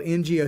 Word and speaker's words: Ngo: get his name right, Andy No, it's spelled Ngo.